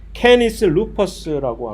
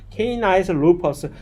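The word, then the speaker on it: Canis lupus: 학명은 캐니스 루퍼스라고 하는 캐니스 루퍼스 미국 사람들을 보고 발음하라고 보면 분명히 캐니스 루퍼스 발음 못해 이거. 케이나이스 루퍼스 왜 꼭 이거 꼬아야 되는지 몰라 그 걔네들은. 근데 우리는 그 발음 아주 잘해요. 이거 라틴어이기 때문에 우리나라 사람들한테는 전혀 문제가 안 돼. 캐니스 루퍼스 하면 정확한 라틴어식 발음이 되는데 이상하게 영미권 애들은 이 발음을 고지고대로 못해. 그래서 케이나이스 분명히 이렇게 케이나이스 루퍼스.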